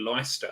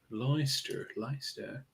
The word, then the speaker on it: Leicester: in England, and the American narrator called it Leicester, and I'm like, that's wrong. Leicester. Yeah. Versailles in Kentucky is pronounced Versailles.